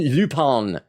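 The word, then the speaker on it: Lupin: See, uh, Ky says, "Pronounced Lupon." I think it is cuz it's a French name. Aren Lupon III.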